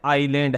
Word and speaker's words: isle: यह ही क्या है आइलैंड है आइलैंड तो नाम आपने सुना है किसको बोलते हैं टापू को और यह आईलैंड की ही दूसरी स्पेलिंग है आई एस एल ई इसको क्या बोलेंगे आइल बोले तो पोयम का